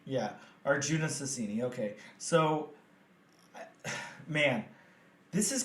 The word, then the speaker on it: Arjuna Susini: Let's again talk about, please remind me of this name, how you pronounced it. Arjuna Susini. Yeah, Arjuna Susini.